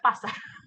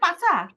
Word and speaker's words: pasar: যেমন আমাদের বাজারের হচ্ছে পাসার। হাই হাই, এটা মানে তারপরে কি? তো পাসার বাজার, বাজার, PAS বাজারকে বলে পাচা? PASAR, কিন্তু এই আরটা হচ্ছে সাইলেন্ট। সাইলেন্ট।